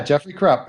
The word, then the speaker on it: Jeffrey Krupp: be lecture to be podcast every my buddy Jeffery Krupp that's how you pronounce all right good Jeffery Krupp that's right just a month ago we were